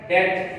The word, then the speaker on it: debt: इसके बाद आता है डेट, DEBT, ये डेबिट से निकला है, डेबिट उधार से, उधार। आगे डेट, डेट, तो बी यहां पर साइलेंट है।